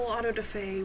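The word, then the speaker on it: auto-da-fé: For clarity, I figured we could define autoday and I did look it up on how to pronounce it and this was correct.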